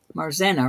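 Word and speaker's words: Marzena: Kristen and enma actually says my name correctly too marzenna right it's mar mar mar I gotta get that that Polish accent rolling before I can say it right this is a it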